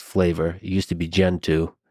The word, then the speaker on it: Gentoo: It used to be Gentoo. And the reason I say that is cuz it rhymes with go-to.